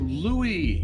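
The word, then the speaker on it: Lui: Oh, Louie.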